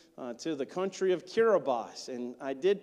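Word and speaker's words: Kiribati: to the country of kirbas and I did pronounce that right it's kabati in the way you spell it but TI is an s in their language and so blame a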